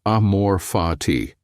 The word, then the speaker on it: amor fati: They introduce a concept called amor fati pronounced amor fati.